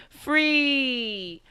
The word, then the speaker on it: Free.K: call me free.k or free but the k is silent don't think too hard